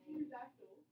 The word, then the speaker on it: pterodactyl: The D is silent, like a pterodactyl. Oh wait, it's a P.